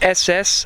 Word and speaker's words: Esseesse: so as I've mentioned this is the SS that's the way it should be pronounced in Italian and as s stands